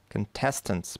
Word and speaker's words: contestants: Here we have contestants, претенденты, да, соревнующиеся. Contestants, второй слог под ударением.